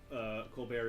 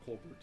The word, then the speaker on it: Colbert: It's just that because Colbert is an English speaker, or Colbert is an English speaker, and not French, even though he doesn't pronounce the T in his name.